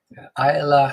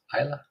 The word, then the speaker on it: Isla: Ayla, I believe you pronounce it like that. Silent S, right? Ayla, Isla.